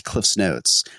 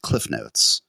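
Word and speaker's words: CliffsNotes: I wish it wasn't I understand why it's Cliff's Notes but I wish it wasn't which is just Cliff Notes which don't doesn't make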